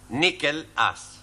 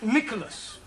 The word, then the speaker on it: Nicholas: upon a time there was a man called nickel us once upon a time there was a woman called nickel it's pronounced Nicholas all right once upon a time there was